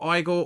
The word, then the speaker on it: Igor: But Igore or Eagle, I think it's Igel you pronounce it, is out until their